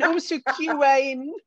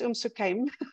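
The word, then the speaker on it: Umm Suqeim: And Umsukain. No, it's Umsukaim.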